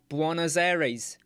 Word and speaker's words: Buenos Aires: Argentina, Buenos Aires, Buenos Aires, Buenos Aires. That's how you pronounce it.